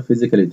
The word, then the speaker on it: Physical: PE اللي هي اختصار Physical Education, التربية البدنية, أو اللي احنا بنقول عليها الألعاب. وعندي كلمة Physical ال PH بتنطق فا والاس بتنطق زد والسي بتنطق كي, يبقى Physical.